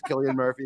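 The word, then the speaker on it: Cillian Murphy: really can decide whether it's selan Murphy or Killian Murphy and apparently it is Killian Murphy yeah apparently it is Killian Murphy but trust me my is the biggest fan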